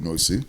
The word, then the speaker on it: Nwosu: to so um my name is noisu as you correctly pronounced earlier and I am one of the